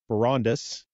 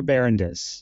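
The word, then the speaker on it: Barondess: partner with Miller bar Baris did I say it correctly no it's Miller barandes barandes golly we tried that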